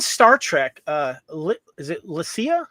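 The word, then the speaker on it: Lycia: do know beyond Star Trek uh is it Lasia? How do you say her name? Yeah, it's L. It's L Y C I A I said Lysa Lisha Okay.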